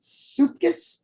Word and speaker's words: Supkis: Is it Supkis? How do you pronounce it? Supkis, but close enough.